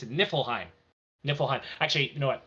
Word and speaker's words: Niflheim: It's Nifl. It's Niflheim.